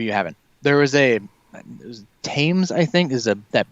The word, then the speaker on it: Thames: haven't there is a tames i think is a that british production company comes thames thames thames they called it they don't pronounce the they don't pronounce the h and they i got